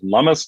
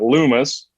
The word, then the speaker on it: Lummis: You pronounce it Lummis, not Loomis. Lummis like hummus.